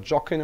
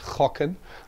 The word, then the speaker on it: gokken: So when I then get my words to study it, and it says, for example, G-O-K-K-E-N, it's not jocken or something, but it's chocken, which means to gamble or to guess.